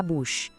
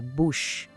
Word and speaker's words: bouche: E a boca, la bouche. Aqui, o OU tem aquele som de U do português. E o che soa como o nosso che de chapéu. Vamos lá? La bouche.